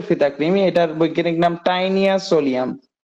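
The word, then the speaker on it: Taenia solium: creamy যেটা শুকরের ফিতা ক্রিমি এটার বৈজ্ঞানিক নাম টাইনিয়া সোলিয়াম টি এন আই এ টাইনিয়া সোলিয়াম টাইনিয়া বানানটা তোমাদের বই ভুল আছে একটু দাড়াও তো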